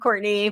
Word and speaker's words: Courtenay: It is pronounced Courtenay, but it's spelled like Courtenay.